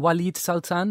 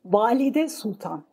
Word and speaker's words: Valide Sultan: So the queen mother, the sultan's mother, how do you pronounce that again? Walid Sultan, is that right? Valide Sultan.